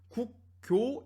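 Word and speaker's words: 國窖: 이 글자도 우리가 분명히 조라고 발음할 수 있는데 이걸 조라고도 부르지만 교라고도 부르자고 해서 우리는 이제 이 상표를, 이 술의 상표를 국조가 아닌 국교 1573이라고 부르고 있는 것이죠.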